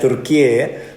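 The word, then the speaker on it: Türkiye: Turki Hai Turki Turki tulisannya turkiye Tapi bacanya katanya Turki yang ibukotanya ankara ya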